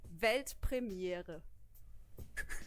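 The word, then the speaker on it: Weltpremiere: you say World premiere in German it's actually velt premiere Premiere yeah yeah it's good congrats and thank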